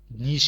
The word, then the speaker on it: niche: नीश कहते हैं, नीश। कुछ लोग इसको नीच कहते हैं, लेकिन अगर उसकी प्रोनाउंसिएशन को देखा जाए तो उसको नीश कहते हैं, शीन से आता है नीश।